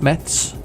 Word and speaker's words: Metz: I need to move over to one that says metz sorry you pronounce it Mets ya want to pronounce